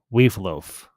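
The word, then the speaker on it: Wealhtheow: robin wright's character uh we've loaf i believe is how you pronounce her name obviously there's a these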